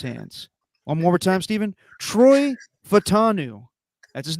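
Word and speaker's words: Troy Fautanu: Troy Fatanu.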